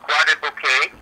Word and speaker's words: Croix-des-Bouquets: Dash e s e o u q t pronounced quad bouquet which is the suburb of fr okay and